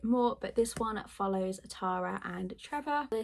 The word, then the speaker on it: Tara: like, it's Tara, but people pronounce it wrong, because I think Americans say Tara, but in the UK we say Tara. I'm not sure. I'm just going to say Tara because to me that's how you say it, but I think it might be Tara.